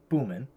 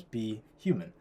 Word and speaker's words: BHuman: So for example, be human, normally you'd pronounce it, if you just read it phonetically, boomin, right? But we want to pronounce it as be human.